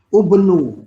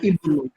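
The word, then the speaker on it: ابن: Tapi nggak boleh ya alifnya dibaca ubnu. Nggak boleh. Nggak boleh. Khusus untuk khusus untuk ini, khusus untuk kata ini tetap dibacanya kasroh. Ibnu harus dibacanya ibnu.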